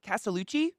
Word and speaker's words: Castellucci: that this is by Jeff Castellucci is that how you say it castelucci yeah oh I was talking about Marilyn Manson